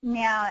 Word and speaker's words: Miao: It's Miao, M-I-A-O. Yeah. Okay, M-I-A-O. You didn't pronounce it as like the cat's meow.